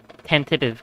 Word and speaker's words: tentative: in a sort of tentative cannon. I've I've never actually like fucking pronounced the T the second T in tentative.